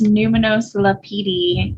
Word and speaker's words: Numinose Lapidi: It's Numinose Lapidi, which is Italian.